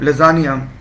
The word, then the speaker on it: lasagna: ये word लजानिया तो है इसकी प्रोनाउंसिएशन, मगर इसको लसागना की तरह लिखा जाता है, LASAGNA।